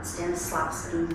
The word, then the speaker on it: Stanislavski: Well, and I can't say this, Ronson gets on me all the time, but there's a method called Stanislavski method.